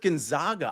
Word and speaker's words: Gonzaga: the same thing with Gonzaga I say Gonzaga instead of Gonzaga and I think I'm pronouncing it correctly everybody else is doing